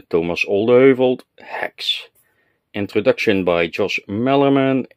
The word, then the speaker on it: Thomas Olde Heuvelt: I have an entire shelf devoted to HEX, and the author, Thomas Olde Heuvelt. Yeah, Jeff, that's how you pronounce the name. Listen carefully. Thomas Olde Heuvelt.